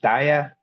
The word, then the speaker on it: DAIAA: It's pronounced dia.